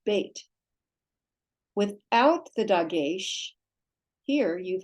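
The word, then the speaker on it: בית: So remember the beit with a dageysh mark, in that this dot, dageysh, has the B sound, beit.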